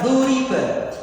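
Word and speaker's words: ضُرِبَ: Domah di awal, lu, kasroh di huruf sebelum akhir, ri, dan fathah pada huruf terakhir, ba, maka dibaca duriba. Yang awalnya doroba artinya memukul, tapi kalau berbentuk duriba artinya dipukul.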